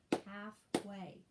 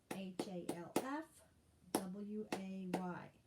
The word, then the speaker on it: halfway: car broke down so compound word here with a silent l halfway h-a-l-f w-a-y halfway all right the blank